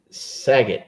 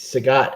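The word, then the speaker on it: Sagat: You You keep tripping me up by calling the dude Saget. It's It's Sagot.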